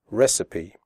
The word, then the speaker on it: recipe: The ending CIPE is pronounced CIPE, recipe.